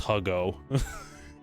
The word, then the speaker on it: Hugo: It's pronounced Huggo.